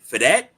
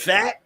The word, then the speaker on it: Pfaadt: Him and Brandon Fadat, is that how you say it? PFAADT. Come on, Midnight Rider, you good with that? Fat?